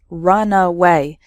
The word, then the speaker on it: runaway: before taking off so the first word has three syllables runaway and the second word has just two syllables runway completely different meanings